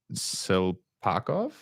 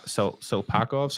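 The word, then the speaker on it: Tsyplakov: Hold up, Silpakov. I think that's how you pronounce his name. It's a T. It's the T is silent. Yes. Silpakov.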